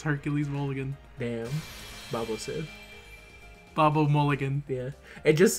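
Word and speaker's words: Baobhan Sith: I call her, I pronounce it similar to Babo Frick, the character from everyone's favorite Star Wars movie.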